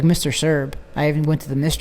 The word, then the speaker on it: Sirb: It's Greg, obviously how it's spelled, Greg, Sirb, and that's S as in Sam, I, R, B as in boy. Greg Sirb. And you will find a lot of stories about this man.